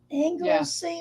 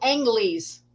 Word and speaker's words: Angley's: Anglesey or something, was it? It's called Angley's. Angley's. I always pronounced it Angley's until I heard them answer the phone one day and went, okay.